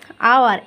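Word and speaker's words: hour: এখানেও দেখো আওয়ার, অ্যান আওয়ার, সেই অনেস্ট ম্যানের মতোই। এইচের উচ্চারণটা হলো ভাওয়ালের মতো, আয়ের মতো।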